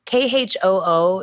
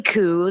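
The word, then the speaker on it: Khoo: last name and like k-h-o-o is pronounced coo some people pronounce it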